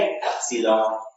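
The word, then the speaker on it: epsilon: ये इस तरीके से, इसे हम प्रोनाउंसिएशन क्या करेंगे, एप्सिलॉन।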